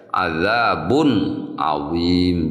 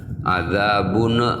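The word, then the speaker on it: عَذَابٌ عَظِيمٌ: Jadi izhar itu harus ee cara membacanya harus terang, harus jelas ya. Jangan sampai memantul ya. Azabun adzim. Jangan adzabun misalnya ada lebih ya ada pantulan sedikit itu enggak boleh ya.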